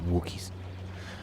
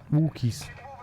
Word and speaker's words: Wookiee: Wookiees. Am I pronouncing those two O's in Wookiee correct? What? Wookie? Wookie. Look. It's like look.